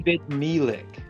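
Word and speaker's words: Ebed-melech: So the notes say it it's basically how to pronounce. So I milik. Okay. Ebid milik.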